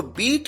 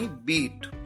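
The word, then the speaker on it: beat: यहां पर अगर आप ध्यान दें तो बीट की सेकंड फॉर्म को भी उसी तरह से प्रोनाउंस किया जाता है जैसे फर्स्ट फॉर्म को, यानी बीट। कई बार स्टूडेंट्स गलती करते हैं, वो प्रोनाउंस करते हैं बेट, यहां पर बीट प्रोनाउंस किया जाना है।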